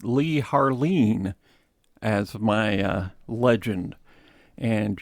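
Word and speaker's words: Leigh Harline: Father Yoler, I have Lee Haron or as I learned from studying this, apparently it's pronounced Lee Harleen as my uh legend.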